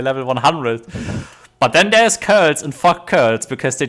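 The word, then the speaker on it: Coeurl: I just call them quirls. Like I'm used to don't call them curls because there's an O-E in there, and in German you pronounce it letter as Ö.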